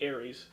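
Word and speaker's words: Ares: God of War yeah but it's spelled a r e s but that's how you spell Aries that is the right one so it would be Aries but uh yeah but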